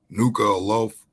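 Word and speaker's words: Nuku'alofa: of the capital nuclear new nuka loaf i believe that's how you pronounce it so it talks about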